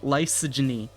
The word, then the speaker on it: lysogeny: how to pronounce light lysogeny lysogeny lysogeny I I'm trying logy logy yes that is how you pronounce it logy like Lysol and then misogyny lyso misogyny no so